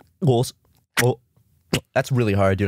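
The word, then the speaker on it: Xhosa: speaking with that tongue, but it's Khosa. It's a really cool language. It's from what country is it from? It's South Africa. Okay. Steve Harvey cannot pronounce the click in Kosa.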